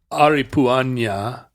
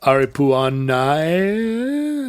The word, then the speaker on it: Aripuanã: So it's not Aripuanã. It's Aripuanã. It's like a Portuguese pronunciation. Those are nasal in Portuguese. When in Spanish, all that ever does is go over an N. Right. But in Portuguese, it makes a vowel nasal.